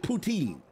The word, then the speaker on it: poutine: know this dude but he just saying it's poutine that's what they told me it's you have to pronounce it poutine yo the cap yo